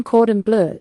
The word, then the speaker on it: cordon bleu: Chicken cordon bleu is a thin chicken breast rolled with ham and Swiss or Gruyere, then breaded and cooked until golden and juicy.